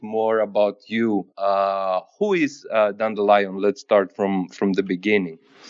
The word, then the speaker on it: Dandelion: I think for me it's just like the song Dandelion. Yeah, Dandelion. Okay, all right. Because I checked the British pronunciation, I liked it a little bit more. It was What's the Dandelion. Yeah? I guess you said Dandelion. You think is the British pronunciation? Yeah, because it has lion inside.